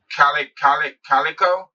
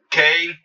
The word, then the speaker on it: Klitschko: But he definitely the biggest puncher AJ has fought since 2017 in April when he fought Calico. I think Calic is Klitschko.